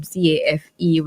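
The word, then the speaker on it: Caffè: But that's different from CAFE with a Hyphen. It's not hyphen. The accent, right? This one is spelled Caffe, and that is pronounced cafe.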